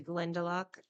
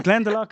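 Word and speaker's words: Glendalough: went yes Dublin gallway I went to glendol pronouncing that right Glenda oh see Glenn of the two legs no Glen the lock is everyone says it y yeah go there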